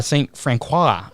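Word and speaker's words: St. Francois: uh saint i don't even know how to pronounce that county raceway f-r-a-n-c-o-i-s that's french i don't do french that's why uh saint francois county raceway when he pulled into the infield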